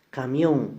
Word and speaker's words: camión: Camión, la mayor fuerza de voz está en la última sílaba, y como termina en N, entonces va tildada.